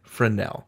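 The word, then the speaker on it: Fresnel: world tells me that in the u.s. you don't say the S you say it friend Nell accent on the Nell anyway we are trying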